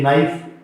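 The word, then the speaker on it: knife: है ना वहां पे ये K साइलेंट रहता है, जैसे कि नाइफ, जैसे कि नो, कन्नो नहीं बोलेंगे इसको। तो N से पहले K जहां कहीं भी आ जाए इनिशियली शुरुआत में तब ये साइलेंट रहेगा, राइट।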